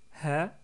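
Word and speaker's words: ه: lettre he est facile si vous connaissez l'anglais ce son là bien sûr nexiste pas en français mais en anglais on le trouve plus ou moins dans le son du H dans les pronoms par exemple he his her et cetera donc si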